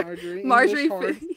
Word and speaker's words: Marjorie: There Marjorie. We go. Thank you. Marjorie.